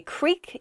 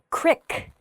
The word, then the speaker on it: creek: vary by region creek i say creek you might hear the word crick qrik and the word creek